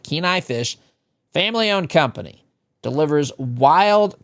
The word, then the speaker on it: Kenai: Kenai Fish is spelled K N AI. Keenai Fish, family-owned company, delivers wild caught seafood straight to your door from the waters of Alaska.